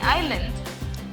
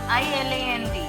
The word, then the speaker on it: island: So you need to understand how a word is pronounced. When I say Isle, it is Aisle. When I say island, it is not Iland, it is Island, island.